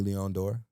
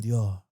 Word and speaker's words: Leon Dore: So I would say he's most popular for Amy Leon Dore. I'm sorry, I gotta say it correctly. Dior. ALD pronounced Leon Dore.